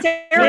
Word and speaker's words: Sarah: Oh, sorry, did you say Sarah? Which rhymes with Kara.